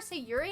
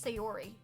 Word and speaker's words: Sayori: I keep calling her Sayuri and I just realized her name's Sayori. I'm gonna end it all. I read it wrong the very first time I read it, and now I keep saying it wrong.